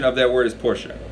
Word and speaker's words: Porsche: pick people woops a Porsche right the correct pronunciation of that word is Porsche right and it's very polished right it's a